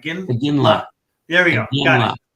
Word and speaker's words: Iginla: Iginla.